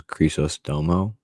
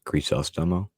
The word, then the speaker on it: Crisostomo: I thought it was Crisostomo, but apparently it is Crisostomo.